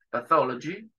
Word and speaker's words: pathology: Los pacientes tienen que atravesar el servicio, Department de Anatomía Patológica, Pathology. Esta TH de acá lo dije Pathology porque se pronuncia como una Z, un poquito más suave que la que tenemos nosotros.